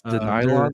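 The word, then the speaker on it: De'Nylon: moriset and CJ Smith that's denyon like the material like like the material spelled like the material um denyon de apostrophe nylon nylon strong strong nylon both three star receivers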